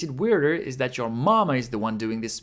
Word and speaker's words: ま: Then we have ‘ma’ ま is pronounced like the English word ‘ma’ meaning mother In other words, it sounds like ‘ma’ in ‘March’ How to remember ま?